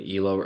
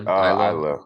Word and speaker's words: Isla: I did not think that Alba and Elo were gonna win. Am I saying her name wrong again? Isla, Isla, yeah.